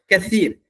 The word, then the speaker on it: Kathir: अच्छा, ये कसीर है, इसको इंग्लिश में कैसे लिखते हैं? KATHIR, और इसका तलफ़ुज़, इसका प्रोनाउंस होते हैं कसीर, काफ था यारा, कसीर कहते हैं ना, कसीर वही है।